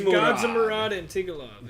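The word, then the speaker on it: Gadzhimurad Antigulov: Okay, I'm going to go ahead and say Antigulov is his name, because I'm not going to try and pronounce that first one. It's Gadzimurad Antigulov.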